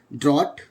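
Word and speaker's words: drought: क्या होगा य यहां नो साउंड होगा इसका ड्रॉट वा लद नेक्स्ट पॉइंट की तरफ चलते हैं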